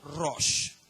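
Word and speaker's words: ראש: voy a leer si se podría pronunciar como ross r r á s h ros el término ajenjo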